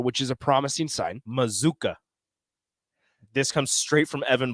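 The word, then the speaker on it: Mazzccua: As a PSA, the pronunciation is Mazuka. Okay. Mazuka. I know things. I'm not saying you do, Rico, but it's different. I know it doesn't it doesn't look like it. It doesn't look it. It shouldn't pronounce that way, but it does.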